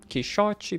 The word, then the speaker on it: Quixote: It rhymes. Quixote, pichote.